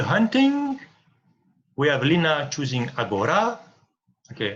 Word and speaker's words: Agora: We have Lina choosing Agora. Okay, I tell it with a Greek pronunciation, but Agora, you can say.